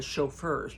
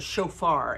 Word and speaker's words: shofar: those would be the chauffeur you know it's not spelled like chauffeur like a car a limousine chauffeur it's a shofar and it's spelled a